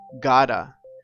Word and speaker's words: have to: have to work tonight but an also very common way to say have to is Gada we change the sound